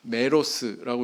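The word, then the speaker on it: μέρος: 어 헬라어 원문 성경에 보면 어 메로스라고 이렇게 발음을 하는데 그 뜻은 우리나라 말로 번역했을 때 부분, 조각, 목 이런 뜻으로 번역이 될 수가 있습니다.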